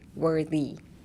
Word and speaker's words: worthy: So take in the were and then spit out the worthy.